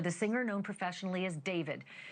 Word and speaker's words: D4VD: Literally for the singer known professionally as David, spelled D4 VD. I know it's strange, but it's pronounced David.